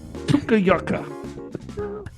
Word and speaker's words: Tuktoyaktuk: The Arctic Ocean swim was after a 600-mile one-way drive on a dirt road to Tuktoyaktuk.